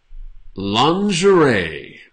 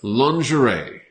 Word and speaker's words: lingerie: So the G is sort of, because I think this is from French, so that's how we pronounce these kind of words in French.